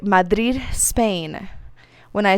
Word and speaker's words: Madrid: U.S., southern border state, there is a 50-50 chance I'll mispronounce the name of the small mountain mining town on the northern tip of the Turquoise Trail. Madrid, not Madrid.